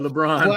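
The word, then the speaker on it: LeBrun: you pronounce his name sounds like LeBron but with his VI I know LeBron LeBron just think of like Pierre LeBron the the hockey writer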